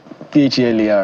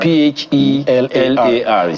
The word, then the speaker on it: Phelar: And by the way, his own Phelar is spelled P-H-E-L-Y. So it's L-A-R. Phelar. Phelar.